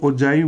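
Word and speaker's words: ogive: Pronunciation ठीक है तो इसको ओजाइव बोलते हैं, ठीक है, या कुछ टीचर्स को मैंने ओगिव बोलते हुए देखा है, तो आप देख लीजिएगा इसकी एग्जैक्ट प्रोनाउंसिएशन क्या है। ओजाइव मेरे हिसाब से करेक्ट जो है इसकी प्रोनाउंसिएशन है, ठीक है।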